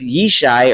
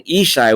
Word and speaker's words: Ishai: And then in the second verse, Yishai, or Jesse, is pronounced and written Ishai with an aleph, again, probably due to the Aramaic influence over the language of Hebrew at the time.